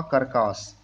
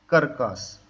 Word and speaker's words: curcas: Name होता है jatropha कर्कास। क्या होता है? Jatropha कर्कस। कर्कस को स्पेलिंग ये है CURCAS, कर्कस। तो जेट्रोपा कर्कस होता है इसका वनस्पतिक नेम।